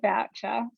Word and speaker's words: Boucher: funny is that it's well i say voucher so but i you know i'm happy to go a bit fancy with the boucher well i thought i assumed it must have been french yeah i mean that's the that's the idea but we don't pronounce it frenchly if that's even the right